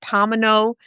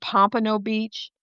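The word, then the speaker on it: Pompano Beach: I'm mispronouncing the city. I'm calling it Pomino and it's called Pompo Beach.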